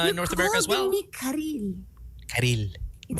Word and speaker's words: Karylle: Me Karylle. Karylle. It sounds so Spanish. Karylle. What's the typical mispronunciation of your... Kalir, I've gotten Kalir. Camille, I get a lot.